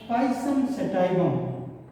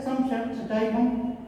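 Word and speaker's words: Pisum sativum: जिसका वैज्ञानिक नाम है पाइसम सेटाइवम। पाइसम सेटाइवम। कहीं कहीं आप पाएंगे कि पी साइलेंट है, सम सेटाइवम इस तरह से भी कहते हैं।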